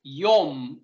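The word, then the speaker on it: יום: learn until last Sunday yum is the pronunciation of the Hebrew word yum is the yehovah's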